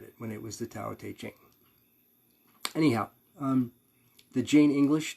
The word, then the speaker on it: Tao Te Ching: spelled depending on your spell t-a-o-t-e-d uh it's pronounced dao de king usually it's changed over the years since i first read it when it was the tao te ching anyhow um the jane english translation i think